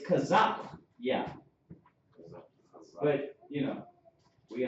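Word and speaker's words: Chaazaqya: my name starts with a my name is pronounced c h a a z a q y a not a k it's kazak yeah but you know we understand all right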